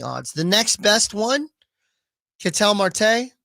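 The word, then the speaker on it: Ketel Marte: the next best one catel Marte or Kettle Marte however you want to Pro pronounce it I've always pronounced it katel Marte of the Diamondbacks he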